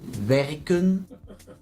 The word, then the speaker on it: werken: The E is pronounced short in both the infinitive verb and the stem. Werken, werk. As you can hear, the pronunciation of the E did not change.